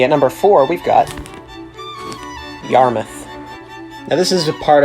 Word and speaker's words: Yarmouth: number four we've got yarmouth now this is a part of a bunch of towns in massachusetts that end in mouth but are actually pronounced muff now number three we